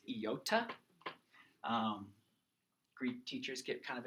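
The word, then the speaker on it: iota: hard to get distracted yota again it's not Yoda it's not Yoda it's yota great teachers get kind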